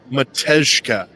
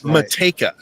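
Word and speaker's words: Matejka: So I pronounced it Meshka. It's Mateka.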